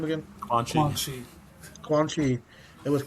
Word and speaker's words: Quan Chi: Quan Quan Chi.